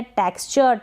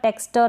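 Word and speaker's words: texture: फिर ये है टेक्सचर, टेक्सटर ना पढ़े, टेक्सचर।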